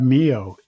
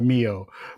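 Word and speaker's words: MEO: between there and then you have Mio or Mio I call it Mio but it's m-e-o and it's 250 megabytes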